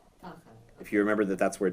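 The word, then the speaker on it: תחת: It's a teeny one, which is, so when you have the double patach twice, like under that first word, the first one gets accented, so it's tachat. Tachat.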